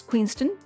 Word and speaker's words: Queenston: pinot noir from queenston pronounce queenston like downton abbey there's no w our first topic of